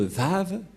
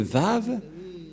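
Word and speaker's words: ו: bien lire l'hébreux et confirmer que la parole de Elia l'ambassadeur de yahoshua est vrai que ça se prononce vraiment V voilà donc le vave ou le lettre V ici en haut on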